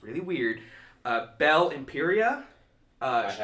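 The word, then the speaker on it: Bel-Imperia: uh Belle Imperia uh I have to see the uh is it's beel Imperia is is her name but she is the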